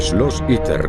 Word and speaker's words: Schloss Itter: El Schloss Itter, como se pronuncia en alemán, se sitúa en medio de las montañas del Tirol de Austria.